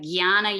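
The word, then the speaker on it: jñāna: part of the verse is it pronounced like like yana yoga yes it's the same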